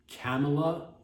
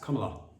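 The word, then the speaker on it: Kamala: pronounced I believe believe it's pronounced it's like it's very simple it's come a lot if you're having it because I did hear Bill Clinton at one point calling her name camela camela wrong what you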